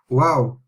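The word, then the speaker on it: واو: We are finishing with this, which is wow, wow, wow. Okay, exactly the same as W, and like it says wow.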